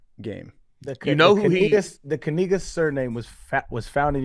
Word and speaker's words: Kaczynski: It's pronounced Kaczynski.